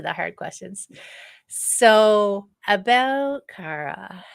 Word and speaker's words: Khara': to me so today is awesome human is Cara right did I say it right Cara Jefferson yes yay for me yay you did